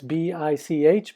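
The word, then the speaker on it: Bich: guy named Marcel B that's bi CH but they take the edge off so everybody pronounces it bic bic makes everything from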